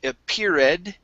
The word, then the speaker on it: appeared: Move your tongue back so your tongue is not touching your teeth. It's D.